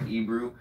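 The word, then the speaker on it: Ebru: It's spelled E-B-R-U, I think, Ebrew, and it's pretty something pretty cool to look at.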